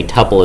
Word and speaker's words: tuple: know cuz the reason I remember how to say tpple is that it rhymes with couple which is also two